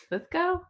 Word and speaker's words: Lithgow: got to say, Nick, it's Lithgo. Really? I've always thought it was Lith Go. I thought I don't know what I thought actually. Lith Go.